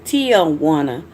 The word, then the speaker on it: Tiawanna: It's Tiawanna, but it's spelled Tia, but it's pronounced, almost like Til, Tiawanna.